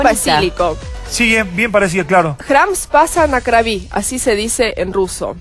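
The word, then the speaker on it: Храм Спаса на Крови: Claro, se escribe de una forma, se pronuncia muy diferente, sí, digamos. Sí, a veces las A suenan como las O.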